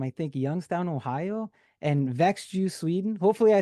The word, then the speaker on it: Växjö: Speaking of places and locations, how crazy is the music world that a guy from I think Youngstown, Ohio, and Växjö, Sweden.